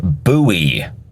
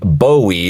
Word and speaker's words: Bowie: is it Bowie or buoy how do you pronounce that knife's name the correct pronunciation is in fact buoy that's right it is not pronounced Bowie the way it may look to be spelled it's buoy not Bowie